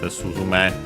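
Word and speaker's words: スズメ: Okay, an accent, Suzume. Just as a reminder, while only accent on the last Mora, that I was pretty sure.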